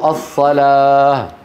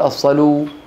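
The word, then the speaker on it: الصلاة: او الياء غير المنقوطه للدلاله على نطق الالف بدلا منها منهما نحو الصلاه انتبهتوا الصلاه ما نقول الصلو انتبهتوا بشراكم يضعون الف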